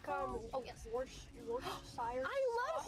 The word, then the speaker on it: Worcestershire: Let's see how people pronounce it. Or like, oh yes, Worcestershire. I love Horsechester sauce.